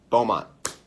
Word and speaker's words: Beaumont: feel like it's - it's two syllables it's not Puerto Rico but Beaumont Beaumont California that's what it is